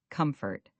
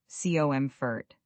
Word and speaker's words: comfort: The word comfortable we've practiced, but let's look at comfortable's base word comfort. The stress is on the first syllable, cofort.